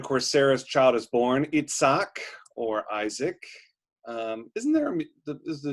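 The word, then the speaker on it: Yitzhak: Sarah's child is born eat sack or Isaac isn't there a musician is he a violinist Itzhak Perlman yes his violinist right yep so there's his good hebrew pronunciation each sock and then at the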